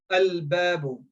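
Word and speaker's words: الباب: Okay, babun, then al-babu. Now lam is pronounced. Lam is not silenced.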